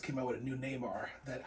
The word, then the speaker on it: Namor: Hasbro just came out with a new Namor that I... Namor. I've been pronouncing this name wrong for years.